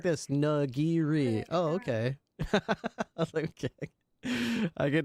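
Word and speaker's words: nigiri: It's like this nagiri."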